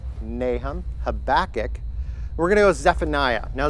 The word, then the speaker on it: Zephaniah: yeah just like that he's got three syllables three chops ready Zephaniah yeah the Hagee